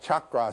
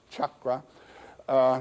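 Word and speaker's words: cakra: They're also called Chakra, C-A-K-R-A. The C, as it's transliterated from Sanskrit, always is pronounced as though it were C-H, Chakra, which means wheel.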